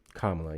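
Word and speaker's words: Kamala: Kamla. Yep, you got it right on the second try.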